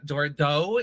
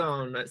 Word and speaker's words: Dordogne: Would you Yeah, like to pronounce- Dordogne. So Okay. Oh, It's just too good. it's just too good. So yes, perfect. It's set in France, so that's hence the pronunciation.